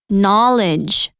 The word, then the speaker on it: knowledge: you a difficult one knowledge knowledge that's a tricky one knowledge the K is silent k-n-o-w-l-e-j okay I know